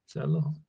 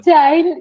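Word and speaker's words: Chile: अब चाइल्ड पता नहीं किसने बोला होगा, चाइल्ड किसने, सर, पता नहीं कोई प्रोनाउंस चाइल्ड भी करता है क्या? हो सकता है आजकल हटेलों की कमी थोड़ी है दुनिया में। ठीक है, तो हमने तो चिली सुना आज तक, और चिली बोल।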